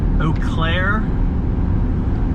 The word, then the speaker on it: Eau Claire: up in uh i guess we're almost to eau claire that's how you pronounce it that's what the locals told me